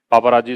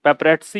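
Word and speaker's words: paparazzi: गलत तरीके से होंगे, पापाराजी इसको पढ़ते होंगे, पेपराजी पढ़ते होंगे, पेपरेट्सी ये होता है, पेपरेट्सी, ठीक है। पापाराजी ऐसा कोई इसका प्रोनाउंसिएशन नहीं है, पेपरेट्सी, ये आपका आंसर आएगा।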